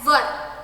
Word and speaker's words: were: अच्छा, बहुत सारे लोग W-E-R-E वर को W-E-R-E वेयर पढ़ते हैं. That is a wrong pronunciation. Okay, so I don't want my students to pronounce it wrong. So W-E-R-E is read as वर.